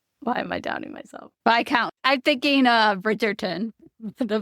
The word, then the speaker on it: viscount: clear, she'll later go on to marry a viscount. Is that how you say it right? Viscount. Why am I doubting myself? Vic count. I'm thinking uh Bridgetgerton the V count and the V count.